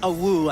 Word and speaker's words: Awoo: It's pronounced a woo.